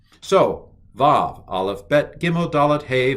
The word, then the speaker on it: Vav: Aleph, Bet, Gimel, Dalet, Hey, Vav. Used to be called wow.